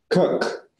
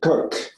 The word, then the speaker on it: Coq: comes from the um I pronounce it with a French accent can you can you tell me how toce cook cook okay there you go cook and then you know